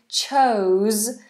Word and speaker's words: chose: is next we have chose chose and that's a zed sound chose I chose you I